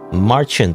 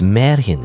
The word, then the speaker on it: Märchen: the way I've learned is not pronounce Marchant line or Martian line the Martian you know space Martians kind of make sense I guess it's not pronounced as that it's pronounced as let's see it says in Google Translate Marin you know apparently it's Maran line Maran I don't know if I'm pronouncing that correctly but it's German for fairy tale apparently this kind fairy